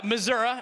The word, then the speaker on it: Missouri: Missouri, as that's actually how they say it.